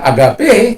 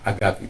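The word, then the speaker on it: ἀγάπη: Agapinya Tuhan, kalau sering orang katakan agape, tapi kalau dalam pronunciation-nya yang benar itu adalah agapi, bukan agape, tapi agapi. Jadi kalau ita itu dibaca i, jadi menulisnya eta, ya, jadi begini, jadi itu dibaca i.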